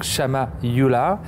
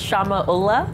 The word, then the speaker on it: Shamya Ulla: have the pleasure to receive Samia EULA dong Shama EULA from RBC Capital Royal Bank of Canada yes I'll just correct it's pronounced Shama Ola Shama you did a good job yes my